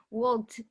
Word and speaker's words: walked: Walked.